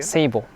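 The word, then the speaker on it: 聖母: Seibo.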